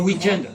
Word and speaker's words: week-end: C'est si c'est pas un Oui, parce détail, que le mot week-end, en France, on le prononce à l'anglaise.